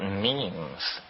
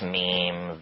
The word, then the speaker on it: meme: last year about about memes you know what memes are memes are the smallest units of a concept and they're like genes the word is deliberately constructed to rhyme with gene and so when i